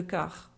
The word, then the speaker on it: quart: est 5h moin le/4 attention de ne pas prononcer le T de quart il est 5h moins